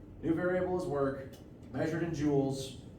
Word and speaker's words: joules: variables work measured in joules spelled like this it's it's a French name not gemstones and the unit is